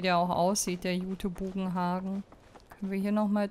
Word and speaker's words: Bugenhagen: oder Orte immer falsch für mich ist es halt bugen Hagen mit Betonung auf dem a und die machen hier halt Bugenhagen draus was für mich falsch klingt so in meinem